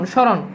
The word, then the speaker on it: স্মরণ: অর্থাৎ চন্দ্রবিন্দু চলে আসে তার মানে সোজা কথা হচ্ছে মফালা শব্দের শুরুতে বসলে সেই মফালার কোন উচ্চারণ হয় না যেমন দেখো স্মরণ স্মরণ এখন দেখো তো এখানে